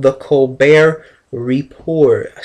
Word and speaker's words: Colbert: call him in america his name is stephen colbert the t is silent and his tv program is called the colbert report a silent t